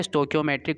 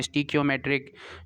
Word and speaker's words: stoichiometric: ठीक है, different pronunciation use होती है इस वर्ड के लिए, कोई स्टीचियोमेट्रिक भी कहता है, कोई स्टीकियोमेट्रिक, स्टोकियोमेट्रिक जो है इसका बहरहाल जो मैंने चेक किया था डिक्शनरी से या गूगल से, तो स्टोकियोमेट्रिक जो उन्होंने प्रोनाउंसिएशन जो है इसकी करेक्ट प्रोनाउंसिएशन मेरे मुताबिक है।